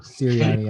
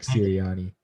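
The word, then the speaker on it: Sirianni: and then uh the guy down the uh syrian i know i keep getting his name wrong too yeah nick ciriani yeah um yeah i definitely think that mccarthy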